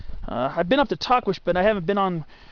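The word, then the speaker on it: Tahquitz: hiked since October of 2017 and that was Tquish Peak and uh yes that's supposed to be how you pronounce it. It's spelled T ah q ui tz. A lot of people say tits or twits or titets or tuckweets but I remember reading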